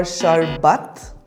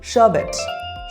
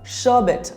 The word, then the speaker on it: sherbet: you pronounce this word shet or sharbat the correct pronunciation is shabet repeat after me shabet R is silent we had orange sherbet